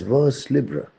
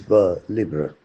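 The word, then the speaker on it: vers libre: When I was a school boy, I was happily pronouncing this term as vers libra. There is no harm in doing so. But I think that the better way of pronouncing the term, the more French way of pronouncing the term is ver libra.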